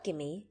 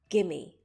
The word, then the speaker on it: Gimme: When you say this word, you're going to put more emphasis on the first syllable. Gimme. Repeat. Gimme.